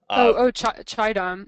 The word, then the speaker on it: Qaidam: never be able to, the Qadim Basin, the Shadim, Qaidam. Yeah, the Q Qaidam. is like a CH kind of Yeah.